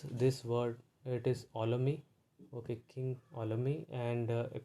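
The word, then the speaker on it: Ptolemy: this word it is olami okay king olami and pt is silent okay so we in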